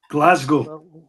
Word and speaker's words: Glasgow: How is it actually pronounced? Is it Glasgow or is it Glasgow? Glasgow. Glasgow. Okay, and that's Glasgow.